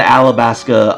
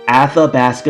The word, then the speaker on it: Athabasca: was it who was it uh of the alabaska uh Mill tanks at the basket one minute later miltanks at the basket miltanks I always have a hard time pronouncing this Athabasca miltanks there we go anyways um so yeah